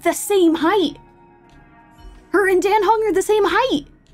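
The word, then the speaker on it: Dan Heng: are the same height I keep wanting to say Don hung but when I was listening to that um pronunciation video it was seeming like it's correct to say then hung so that's what I've been trying to I've been trying to train myself to say that well she is I'm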